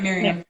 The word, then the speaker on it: Miriam: Miriam, how do I pronounce your name? You're saying it right, Miriam.